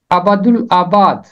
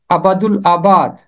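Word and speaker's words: ابدالآباد: नवे ज़बूर की 5वीं आयत, अबदुल आबाद, इसका दुरुस्त तलफ़ुज़ है अबदुल आबाद, अबदुल आबाद।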